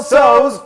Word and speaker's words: Tso's: we're doing our General Tso's chicken is so good the T is silent there folks so okay so what